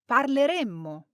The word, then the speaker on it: parleremmo: In the future, we use one M and we use two M's for the conditional. Listen to the difference. Parleremo. Parleremmo.